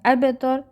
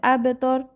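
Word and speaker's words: أبتر: দেখেন আবতর, এখানে কলকলা হবে, আবতর। ঠিক আছে, আবতর বা কলকলা করে বলতে হবে।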